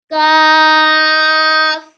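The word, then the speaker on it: ق: read after me cough cough comes from the back of the tongue and throat to pronounce off this is calf kindly read after me cough comes from the back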